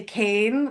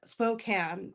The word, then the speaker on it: Spokane: it spoke can so a lot of people who are outside of it say cane like a candy cane and it's more more like a can so you can tell